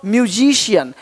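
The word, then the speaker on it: musician: म्यूजिशियन म्यूजिशियन देख रहे हो?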